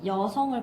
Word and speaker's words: 여성: 그럼 여기서 어떤 예시를 보시면 되냐면 이 여성을 보시면 돼요. 요 한자는요. 여잖아. 여잖아요. 이 여에다가 이 여성이라는 이 단어가 우리가 이렇게 쉽게 쓰는 단어로는 우리가 말할 때에는 여성 이렇게 발음되지.